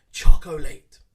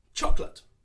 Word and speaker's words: chocolate: it pronounced quite often chocolate again trying to of course pronounce every syllable but once again we do not do this we make it shorter chocolate chocolate my favorite ice